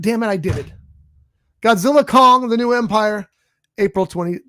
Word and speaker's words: Godzilla x Kong: or whatever um and the X is not pronounced it's just just put there for a like like a as a symbol doesn't mean anything so it's not Godzilla X Kong it's just Godzilla Kong